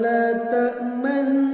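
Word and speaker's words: لا تأمنّا: Qalu ya abana ma laka la ta'manna ala Yusuf wa inna lahu lanasihun. Contoh ismam ini yaitu lafaz la ta'manna. Cara pengucapannya, bibir meringis lalu mencucu sembari memasukkan gunnah dan ditekan sedikit.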